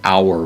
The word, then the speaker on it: hour: We get the word hour from that. Of course, we have a silent H on it, H-O-U-R, but it actually is the same word with the rough breather at the beginning, pronounced hora.